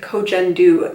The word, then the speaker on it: Koh Gen Do: down below and let's talk about coach endo although I've also heard somebody pronounce it coach n do lately but I'm gonna stick with coach endo because that sounds better to me the company was started